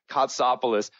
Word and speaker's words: Kotsopoulos: awesome name which I hope to god I pronounce correctly which is Peggy costopoulous Peggy welcome to the show thank you and